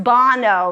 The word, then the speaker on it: Bono: Same spelling as Bono, but pronounced Bono.